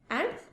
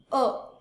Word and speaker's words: a: Indefinite articles R ए एंड एन, ए और एन, ठीक है। इसको हम जब यूज करते हैं तो अ प्रोनाउंस करते हैं, ए नहीं, ठीक है।